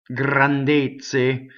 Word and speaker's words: grandezze: Like the ZZ in pizza. Okay, so grandezze. Grandezze. Now, the stress is closed. The unstressed we know is closed.